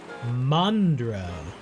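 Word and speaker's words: Mandurah: Mandra. Yeah, because you have an Australian way of pronouncing things. You spell it Mandura and then you pronounce it Mandra.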